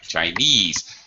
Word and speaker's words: Chinese: Okay, Chinese. Where's the stress? Second syllable. Second syllables. Sorry. Second syllable. Very good. That's right. Chinese.